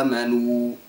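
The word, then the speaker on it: آمنوا: لمخرج الراء بضم الشفا كذلك عند قوله تعالى امنوا هو اتى بالواو مع الغنه وينبغي ان تلفظ صافيه بلا غنه فينبغي ان يلفظها امنوا طبعا الشكر لاصحاب المشاركات كافه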